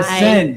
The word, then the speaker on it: Aysnd: Aysnd is spelled A-Y. Aysnd. Did I say it wrong? A-Y-S-N-D. No, you said it perfectly.